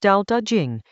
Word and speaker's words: Tao Te Ching: Chapter 53 of the Tao Te Ching, pronounced Tao Te Ching, is a short passage about a very specific